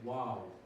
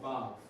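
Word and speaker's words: וָו: So the next letter is Wav. Wav or Vav. Because some people say Wav, some people say Vav.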